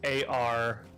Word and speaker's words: Arceus: Okay, The pronunciation is AR-KEE-US. I was right. Yes. Arceus. Which makes sense if, like, there's some phonetic root of, like, archetype.